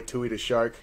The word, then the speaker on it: Tuidashark: It's your boy Tui-DA-SHARK. That's Tuidashark. Spell that shit right.